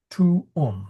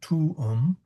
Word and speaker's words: tuum: Tum is pronounced tum. Now that's a long u so it's a t and it's then it's a short u. So tum and not pronounced like tomb or any other single syllable combination.